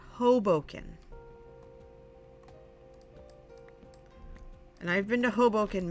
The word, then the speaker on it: Hoboken: It's pronounced Hoboken.